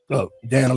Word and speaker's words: Danna: time now that's good that's how I teach people to pronounce my name Dan like Hannah yeah true true I